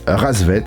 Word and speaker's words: Rassvet: avec carhartt vit pas ça s'écrit pas bête mais ça se prononce rassvet en russe et ça veut dire